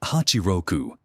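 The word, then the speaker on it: ハチロク: AE oitenta e seis No Japão foi pronunciado Hachi Roku 86 O AE oitenta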